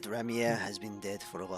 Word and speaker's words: Ramier: Remy no Ramier.